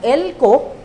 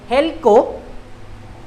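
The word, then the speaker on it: ἕλκω: At sabi ni Kittel sa Theological Dictionary of the New Testament, yung ginamit na word na elko or helko, silent H nga lang yan, kaya nahirapan akong hanapin kagabi.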